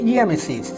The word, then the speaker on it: রামেসিস: প্রথমেই আসা যাক যাকে নিয়ে এত জল্পনা আর কল্পনা, সেই দ্বিতীয় রামেসিসের ব্যক্তিগত জীবন নিয়ে নানা ফলক কিংবা প্যাপিরাসের পাতায় লিখিত ইতিহাস কি বলে। রামেসিস লেখা হলেও উচ্চারণটি আসলে হবে ইয়ামেসিস।